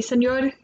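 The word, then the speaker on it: señor: okay what is it Senor you're in Spanish so the ars pronounced more like a D so I'd be Senor Camacho yeah ed apparently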